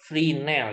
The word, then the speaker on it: Fresnel: orang Perancis ya augustine rynel ya karena ini orang Perancis esnya nggak dibaca sama dengan transformasi fourier dibacanya Uye Poison jadi puasa ini kita lihat di sini kesamaan freename ini sangat penting yang